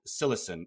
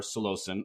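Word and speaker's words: psilocin: is a compound called cilicin or salosin or cylosim there doesn't seem to be uh any standard uh pronunciation potato moment potato potato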